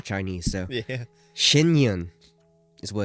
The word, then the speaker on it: Shen Yun: Shinyun is what it's called.